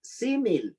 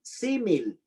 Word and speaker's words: símil: La siguiente, el símil, con S, símil y acento en la primera I, símil.